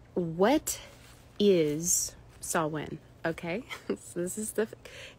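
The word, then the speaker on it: Samhain: festival called s Wayne it's spelled s m h a i n but it's pronounced saw win okay um this was H what is saw win okay so this is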